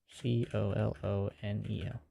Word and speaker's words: colonel: Colonel I think yeah that's Colonel it's a weird way to spell it but uh that's how you spell it here in America don't know why there's not even an r in it to make an R sound but somehow it works defin can give it